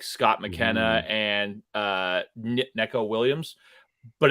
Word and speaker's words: Nico: name again yeah Nico yeah okay I said Necco I was like should you just play that